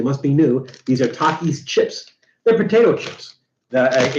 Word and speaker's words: Takis: like Matt didn't know how you're supposed to pronounce it it's Takis because takis are like taquitos and what taquita or